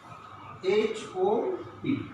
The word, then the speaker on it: hop: What is the difference between these two words? Hop. The pronunciation is hop. That means O. In this word, O is being pronounced hop. That means straight, not narrowly, but in this word, O is pronounced hope. That means our lips and our mouth is being narrow and should be slight narrow. Hope, hop, hope. The difference are hop means ঘুরিয়ে ঘুরিয়ে চলা, খোরানো।